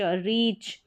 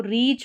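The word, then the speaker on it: reach: सी एच को च रीच। अब इसको रीच पढ़ेंगे। इसको रिच नहीं पढ़ सकते। अगर रिच पढ़ेंगे तो वह स्पेलिंग होती है आर आई सी एच।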